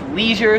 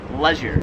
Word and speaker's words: leisure: 20 is leisure, so me and like every American pronounces it leisure. I've never heard it pronounced any other way. However, I came here to Australia and they pronounce it leisure.